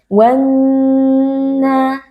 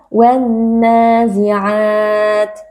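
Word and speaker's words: وَالنَّازِعَاتِ: Cara membacanya adalah dengan mengidghamkan atau dengan meleburkan alif lam ke dalam huruf yang ada di depannya yaitu huruf nun, sehingga huruf lamnya tidak lagi terdengar, melainkan yang terdengar adalah huruf nun yang bertasydid. Wanna. Nah, di sini terdapat nun yang bertasydid. Nun yang bertasydid wajibul gunnah, wajib dibaca dengan dengung yang dipanjangkan. Jadi membacanya wanna. Dengungnya itu harus dipanjangkan sedikit. Tidak boleh langsung dibaca wan nazi'at.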